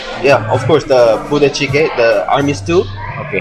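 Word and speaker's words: 부대찌개: It's very close, and I really like of course, the budae-jjigae, the army stew.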